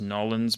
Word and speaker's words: New Orleans: What city is often pronounced Nolins by the people who live there? Guess it's New Orleans.